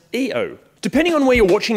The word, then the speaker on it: Io: It's the Mitsubishi Pajero Io, which I actually learnt today is pronounced EO.